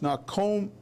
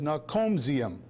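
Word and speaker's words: Наркомзем: It should be said, it should be pronounced Narkomzem. Instead, he says Narkomzium.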